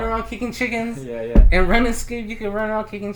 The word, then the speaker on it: RuneScape: But it's Run Escape. Run Escape is the one game. It's RuneScape, bro.